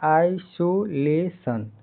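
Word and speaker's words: isolation: इसका उच्चारण क्या है? आइसोलेशन।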